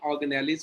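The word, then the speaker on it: organelle: Cell के अंदर उसके ऑर्गेनेलिज कौन से, इनको बोलते हैं ऑर्गेनेल्स। लिखने में स्पेलिंग ऑर्गेनेली बनते हैं लेकिन ऑर्गेनेल पढ़ते हैं एक्चुअली, ठीक है।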